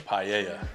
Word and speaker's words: paella: to this and again this is the right pronunciation of what the paella the paella you know what I mean uh